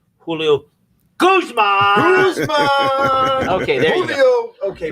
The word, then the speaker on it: Julio Guzman: And Julio, I do want to say one thing to No, you said it wrong. Julio Guzman.